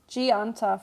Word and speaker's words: 않다: So generally the heat, like in a verb like gianta, for example, it's just, you don't pronounce the heat at all. It's just gianta, like this. The heat just goes away.